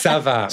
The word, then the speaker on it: Çava: say come on Darren it's Sava which means how are you it means how are you in French it has a little sadilla under the sea that the little I